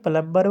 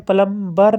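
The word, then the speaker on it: plumber: हैं पाइप्स को उसे प्लंबर बोलेंगे मैकेनिक तो य तो सब जानते हैं इससे प्लबर नहीं पढ़ते प्लबर पढ़ते हैं बी साइलेंट रहता है 25 पार्ट ऑफ चर्च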